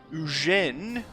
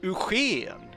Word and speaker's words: Eugène: However, he is, or he was, born in France, so maybe I should say Prince Eugène, as you say in France, or perhaps, because I